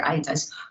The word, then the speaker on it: Aeta: anthropological studies so the itas it's pronounced as i as in i what we were speaking about earlier itas are the earliest known